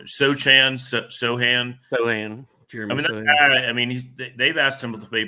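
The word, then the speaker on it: Sochan: Sohan.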